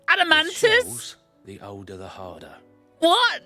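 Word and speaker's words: Adamantoise: I do you do I thought it was an adamant to not an adamantis well any old adamantis do it's pronounce adamantis the older the harder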